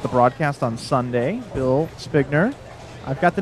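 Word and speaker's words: Spinger: on Facebook okay so Barb says it's SP p i n g e r with a long I so that would be spner right oh I've B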